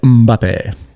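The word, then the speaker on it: Mbappé: Do you pronounce it like Mbappe? I think is it like that song like Mbappe, Mbappe, Mbappe, Mbappe? Oh yeah, it's Mbappe.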